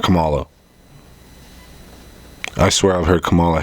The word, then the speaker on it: Kamala: the beginning of the video he said it's Kamala not Kamala I swear I've heard Cala Harris for the